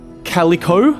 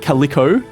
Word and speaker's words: Calico: Calico, as someone politely and in fact extremely aggressively, unnecessarily aggressively reminded me, is pronounced Calico, not Calico.